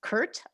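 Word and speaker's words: CIRT: you pronounce it well i went back and forth about whether it was going to be curt or curl if we were going to use like teaching or learning but i've decided uh teaching fits better so it's kurt ig you know i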